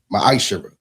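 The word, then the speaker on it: מעשר: You can find this in the book of numbers 18 21 in the book of Malachi 3 8-10 means 10th in Hebrew and it's pronounced misher.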